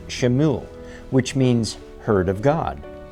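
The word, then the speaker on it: שמואל: had heard her request the name Samuel in Hebrew is pronounced shimu which means heard of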